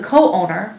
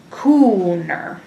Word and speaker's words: co-owner: Number 4, when I complained to the co-owner, the store offered me a refund. Co-owner needs a hyphen due to the double O. Otherwise, we might pronounce this word as cooner.